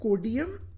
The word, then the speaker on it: Codeium: So the second one is called Codium. This is how it's spelled, Codeium.